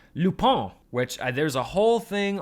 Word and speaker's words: Lupin: Dummies like me would just say Lupin because, you know, I love Harry Potter and it just looks like Lupin to me.